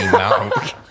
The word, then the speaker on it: Moog: That's actually Moog. Is that oh, they've got a There's really cool-looking Moog in here.